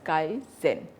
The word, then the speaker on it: Kaizen: It is pronounced as Kaizen.